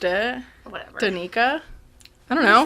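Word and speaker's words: Danika: It's like Danny, but a ka?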